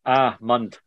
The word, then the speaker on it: almond: The word almond is pronounced ahmund, ahmund, with emphasis on the first syllable. It rhymes with words like calm and palm.